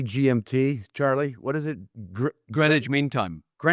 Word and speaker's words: Greenwich: Greenwich Meime.